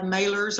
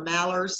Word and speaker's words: malar: And then we have malars or mallards, some people pronounce it one way or the other, which comes from the lower bill.